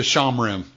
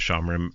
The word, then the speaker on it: Shomrim: It's actually I was pronouncing it Shomrim for a long time, and then somebody corrected me and said no, it's actually Oh, okay. Shomrim.